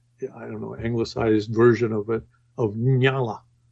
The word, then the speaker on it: Nyala: Well, the actual I called her Nyla the whole time. Nyala. But the real pronunciation is Nyala, right?